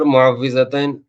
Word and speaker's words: معوذتین: کو عام طور پر معوذتین کہا جاتا ہے، لیکن لوگ عرفاً اس کو معوذتین کہتے ہیں۔ صحیح تلفظ جو ہے اس کا واو کے زیر کے ساتھ ہے، معوذتین۔ عوض یعوذ تعویذ کے